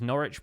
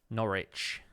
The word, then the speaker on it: Norwich: well that works his norwich pronounced like sandwich or WIC it's which norwich that you don't pronounce the w house home across recap